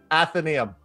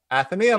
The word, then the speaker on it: Atheneum: this is how do you say this word athenaeum that's right atheneum yeah the mystic library folks again it is